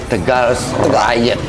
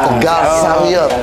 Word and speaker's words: Tegal Sariot: Halo Coklat Riders, hari ini saya sudah hadir di Tegal Riot. Ya, sama Kang Edi ya. Masa sih? Gimana bacanya sih? Tegal Sariot. So Sariot ya. Tegal Sariot. Tegal Sariot ternyata bukan Tegal Riot.